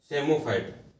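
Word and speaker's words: psammophyte: चौथा है, fourth number है सेमोफाइट। सेमोफाइट, पी साइलेंट है, डबल एमओ फाइट, सेमोफाइट।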